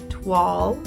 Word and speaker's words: toile: we are picking up with making the fabric wall is how that's pronounced and admittedly um this will be the